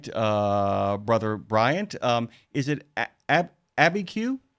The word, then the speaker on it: Abiquiu: Hey, I want to make sure, by the way, if I get this right, Brother Bryant, is it Abiquiu? How do you say it? It is Abiquiu, actually.